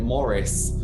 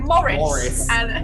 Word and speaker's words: Maurice: beast because i think his name is spelt maurice but they always because he's cockney they're calling morrison um yeah so morris